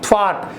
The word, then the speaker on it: thwart: So R is silent there. So in spelling, thwart, T-H-W-A-R-T.